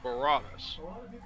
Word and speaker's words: Baratus: So yeah, the correct way I would pronounce it is Baratus or Yeah. Baratus as well. So like you gotta give it a Latin pronunciation with that Yeah, yeah.